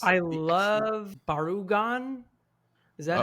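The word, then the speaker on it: Barugon: I love Barugan. Is that how you say it, from the Gamera franchise? Yeah, Gamera vs. Barugan.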